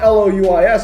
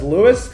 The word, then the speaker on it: Louis: username is louis four my name is spelled l-o-u-i-s but everyone pronounces it pronounces it as lewis and i'm just like no it's louis so now i'm just going to put it as louis so people pronounce it the right way um but also i'm